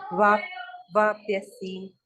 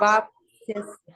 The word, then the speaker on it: वाप्स्यसि: कुर्वन् सिद्धिं वाप्स्यसि। वाप्स्यसि, स भी है ना बीच में, वाप्स वाप्स। वाप्स्यसि, हाँ हाँ, वाप्स्यसि।